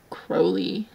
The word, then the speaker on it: Crowley: I mean, not necessarily, I guess you can pronounce Good Omens Crowley however you want to, but in the audiobooks, it's like Crowley.